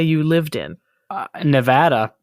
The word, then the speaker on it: Nevada: say you lived in Nevada you got it that's how they pronounce it right yes they say Nevada not Nevada you got